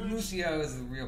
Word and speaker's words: Lucio: And No, I used to main Lucio. I feel like if anybody doesn't know who the Luch is, The I Luch. call him Lucio is the real pronunciation, but I call him Lucio.